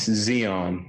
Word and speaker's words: Xeon: how do you say your first name its Suzy on it's very weird but you know it is